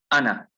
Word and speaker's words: أنا: it, it's pronounced as ana. Never ana. That alif is never pronounced. So if you want to say ana tajiru, ana alwaladu, ana talibu, never will this alif ever be pronounced.